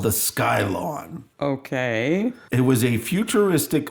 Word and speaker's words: Skylon: do you spell it sk y L o n Oh like a Skylon I thought you meant sky lon l aw n note oh no I was like oh it's like grass in the sky no